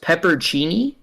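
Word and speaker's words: pepperoncini: I guess in the Midwest it's pronounced peppercini.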